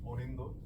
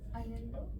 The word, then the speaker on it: Aninda: In Bangla it's pronounced Onindo, and I'll be very happy if you can pronounce it in that way. Anando?